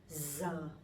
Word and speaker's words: giờ: This one is very easy for me because it sounds like Z sound in English. Giờ. So I'm from the north, I'm from Hanoi, so my pronunciation would be Z. But people from the sound, they would pronounce a little bit differently. They would say ya, ya, something like that.